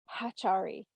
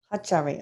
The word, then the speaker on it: Ahatari: how in your language, how would you say the name of your race? Atari? Would you say it like that? Okay, this is how they're saying Hachari. Hachari.